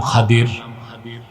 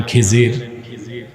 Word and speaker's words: খাদির: আমার এক নেককার বান্দা তার নাম খাদির যারে আপনারা বলেন খিজির উচ্চারণটা কি আমাদের দেশের লোক বলে কি খিজির এটা ভুল উচ্চারণ শুদ্ধ উচ্চারণ কির মুসা